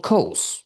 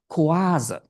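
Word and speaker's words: Coase: my Dutch students, that his name rhymes with do. My Dutch students like to pronounce him Ronald Kuaza which is not rhyming with those but I think if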